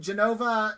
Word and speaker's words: Genova: to be live from genova italy i believe is how it's pronounced and we're going to